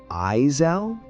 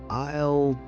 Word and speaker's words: aisle: If you say "Eisel" and the shopkeeper looks at you like you're speaking Martian, don't shrink away. Just chuckle and say, let's see, aisle 10? Sorry, I'm still getting used to those silent letters.